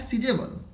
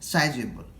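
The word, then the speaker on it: sizeable: और सीज होता है, एक्चुअली होता है सीजेबल, लेकिन हम लोग जनरली बोल देते हैं साइजेबल। तो आप याद रखिएगा इसका प्रोनाउंसिएशन क्या होगा? सीजेबल। ठीक है।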